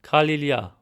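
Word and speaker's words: Գալիլիա: Again for a hint look at the word Galilee with a G sound but in Western Armenian we said Kalia with a K sound.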